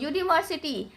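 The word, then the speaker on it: university: क्योंकि इसका प्रोनाउंसिएशन देखिए। यूनिवर्सिटी कैसे पढ़ते हैं इसको? यूनिवर्सिटी। तो यूनिवर्सिटी यू से चालू हो रहा है।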